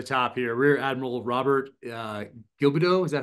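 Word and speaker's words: Gilbeau: And one guy close to the top here, Rear Admiral Robert Gilbido. Is that how you say it? What? Gilbo, that's right.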